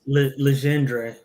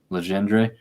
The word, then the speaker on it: Legendre: So, it looks like almost like legendary, but that's not how Legendre. Legendre.